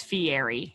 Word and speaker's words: Fieri: you're not guy fieri that's fiati get it right it's fiery it's a made-up name